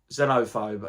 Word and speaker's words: Xenophobe: Xenophobe, is that how you say it? It's like a silent X, or you turn the X into a Z.